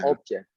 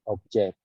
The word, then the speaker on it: object: Pronunciation is not object, because object is a thing. No. Okay. Object. Object. Object, exactly, object.